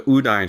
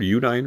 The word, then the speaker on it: Udine: the houses on uh I think it's pronounced Udine Road. Udine Road. U D I N E.